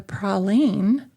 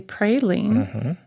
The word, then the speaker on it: praline: In 1762, the popularity of the prolene or some people say praline took hold and